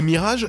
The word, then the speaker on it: Mirage: Et Mirage, c'est un de ces mots français qui existent en anglais et qui se prononce comme en français. Enfin, comme un anglais qui prononce des mots français.